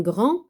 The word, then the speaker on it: grand: ان غران غارسون un grand garçon. Donc, grand, عنده la lettre D. Grand, il a comme lettre muette la lettre D. ولكن ما كنطقوهاش.